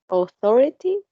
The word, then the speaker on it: authority: The second one is authority. It has 4 syllables, and the syllable is in the stress. Sorry, is in the second syllable.